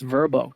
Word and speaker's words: VRBO: Although VRBO, they came out and were like, no, our name is pronounced Verbo. Dude, no one calls you Verbo. VRBO, like Airbnb, VRBO.